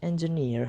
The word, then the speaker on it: engineer: So the word engineer has three syllables, that is en, j, and near. So the first syllable, that is en, is distressed or unstressed. The second syllable is j, is also distressed or unstressed. And the third syllable, that is near, is stressed.